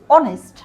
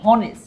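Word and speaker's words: honest: যেমন ধরো এইচ এখানে কিন্তু এইচ উচ্চারণ হচ্ছে না। উচ্চারণ হচ্ছে ও অনেস্ট। আমরা বলছি না যে হনেস্ট।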